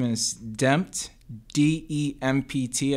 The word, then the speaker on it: DEMPT: my artist name is damped de MPT as in redemption I live in New